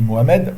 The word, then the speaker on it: Mohamed: En français on dit Mohamed, parce que le ha ne se prononce pas.